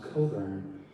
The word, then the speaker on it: Cockburn: It looks like Cockburn, pronounced Coburn.